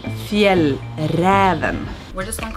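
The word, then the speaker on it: Fjäll: swedish feel robin kanken proper way to pronounce our brand is field we're just gonna call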